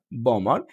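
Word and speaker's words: bomber: এরপরে দেখেন এমবি টা যদি মাঝেও থাকে তাহলেও বি টা উচ্চারিত হবে না। যেমন বি ও এম বিই আর বোমার বোমার। ওকে সি এল আই এমবি আর ক্লাইমার। ক্লাইমার এখানে কিন্তু বিটা উচ্চারিত হয়নি।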